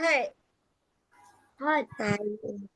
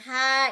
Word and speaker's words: heart: Siapa cakap Siapa cakap hur the correct pronunciation of hati ataupun tadi salah kalau betul kita kita Panggil Heart kita tak panggil apa